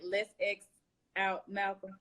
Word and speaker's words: LETSXOUTMALCOLM: Let's X Out Malcolm.